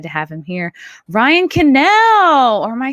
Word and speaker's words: Kinel: Wait, you're saying it wrong. I think you learned from Gary, who pronounced your name wrong on Friday Night Tights. No, it's Ryan Kinel.